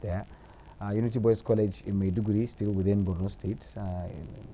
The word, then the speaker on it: Maiduguri: It's Maiduguri actually, but the pronunciation goes with the same dialect, Maiduguri.